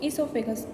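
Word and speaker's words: oesophagus: ओ इज़ a silent, so the pronunciation is ईसोफेगस.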